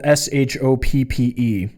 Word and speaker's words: shoppe: or the gift shop it's spelled SHOPPE. So it sounds very British.